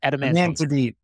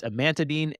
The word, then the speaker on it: amantadine: I'm not even G to say it right adamine amantadine is that sorry that's the medication right I was trying to think of the it's amantadine and Radine which are in the adamantine derivative